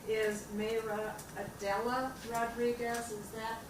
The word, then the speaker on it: Mayra: Mayra. Mayra, okay, thank you. And it's spelled M-A-Y-R-A.